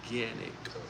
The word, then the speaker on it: Canik: Ganic is actually pronounced ganic. Oh shit. Ganic. So you pronounce it with the G instead of the C, right?